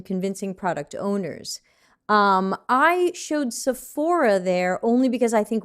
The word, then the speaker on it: Sephora: America have shopped Sephora, which in America we say Sephora. I've learned that outside of America it seems to be Sephora, right? Sephora? What do you say? Sephora? Yep. That's like accent on the A?